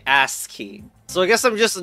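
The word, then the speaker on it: ASCII: know that was cuz you pronounced it butt key I mean ass key so I guess I'm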